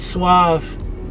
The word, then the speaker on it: Sauv: game suea Eve so they I'm like its suave that's not I know not expose swab I